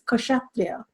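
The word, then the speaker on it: Kshatriya: there is a k there and it is pronounced it's not a sleeping case it's katria so then um then the next verse is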